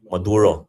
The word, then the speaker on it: Maduro: to get rid of Madur, how do we pronounce his name? Maduro.